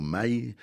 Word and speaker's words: Mail: vient à 20h au Mail. C'est pas au Mel, hein, ça s'écrit pareil, mais enfin c'est vraiment un endroit.